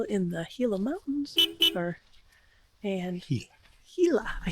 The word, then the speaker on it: Gila: And Gila.